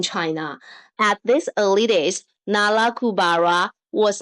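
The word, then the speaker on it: Nalakubara: It was not a Chinese name, so it was actually a shortened transliteration of its original name, pronounced as Nala Kubara.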